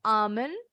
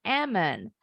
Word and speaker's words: almond: baca kalimat contohnya bacanya Boleh Amin boleh aman kalau Miss bilangnya Eman I back some and